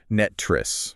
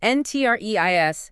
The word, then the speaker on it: NTREIS: We should probably say how to pronounce that for anyone new. It's NTREIS, right? Exactly. NTREIS, NTREIS.